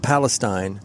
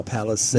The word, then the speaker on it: Palisades: Palisades? Not Palestine. No. Palisades.